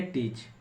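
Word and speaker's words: teach: नियम क्या लिखा है जब ई के बाद ए आता है तो ए को पढ़ा नहीं जाता है तो टी ए सी एच इसे पढ़ेंगे टीच टी एम इसे पढ़ेंगे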